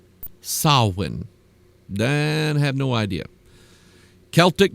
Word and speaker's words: Samhain: me tell you this it is not called Sam ha and I have no idea why it's spelled Sam Hae but it's pronounced sawin then have no idea idea Celtic Druids Druids